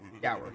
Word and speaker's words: Dour: Dour. Yeah, because it's spelled like hour with a D.